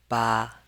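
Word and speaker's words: 八: And number eight, we pronounce it in the first tone ba like this.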